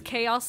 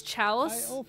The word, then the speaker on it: chaos: To pronounce chaos as chalice for like London the longest time as a kid.